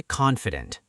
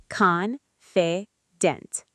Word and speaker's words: confident: Now let's try confident. Confident. 3 parts. Confident. The stress is on the first part.